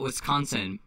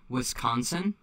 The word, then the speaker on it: Wisconsin: If you say Wisconsin, you're not from here. If you say Wisconsin, you're from here. It's very subtle. Wisconsin. Wisconsin. And you have to nasalize.